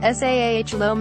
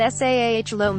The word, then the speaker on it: Salome: characters Salome pronounced tapes directs me laughingly s aah loam after a friend of her mother's not s aah loam a as in the Bible uses some of the